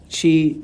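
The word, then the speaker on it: qi: to how to spell it but it's it's pronounced uh chi in in uh in uh asan in some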